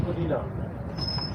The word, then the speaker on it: Spadina: First Spadina. Okay. A lot of people Spadina. So actually the right pronunciation is Spadina actually.